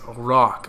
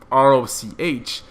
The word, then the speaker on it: Roch: But my name is Rock, okay? So now that it's spelled differently, it's spelled R-O-C-H, it doesn't make sense to be pronounced Rock, because if you're grammatically correct, R-O-C-H would make the sound ch, okay?